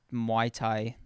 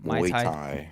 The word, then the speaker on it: Muay Thai: He was like, "Oh yeah, just wait until I get like boxing or Muay Thai. Why did I say it like that? Muay Thai.